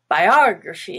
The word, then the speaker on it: biography: a little different like biography has the stress on ah and the rest is schwa except for the y at the end of a word that's green i.e at the word or ies would also be green biography but in biographical which is the adjective it changes to become the a the stressed and now the a is no longer a schwa but it is black biographical abnormal is orange